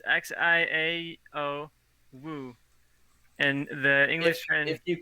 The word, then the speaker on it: Xiao Wu: and it was called Xia Wu, I believe is how you pronounce it. It's Xiao Wu.